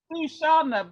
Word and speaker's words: Xana: Oh, my name's Shana, but because my name's spelled Xana, people call me Xena Princess Warrior, so I put on, but my name's actually Shana, but spelled with an X.